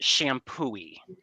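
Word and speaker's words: Champoeg: So it is properly pronounced shampooie. Shampooie. So think of the shampooing that you do on your head.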